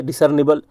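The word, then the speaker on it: discernible: confusion होना नहीं है डिसरनिबल डिसर ल तो नहीं पढ़ते नीबल पढ़ते हैं डी सर नीबल पढ़ते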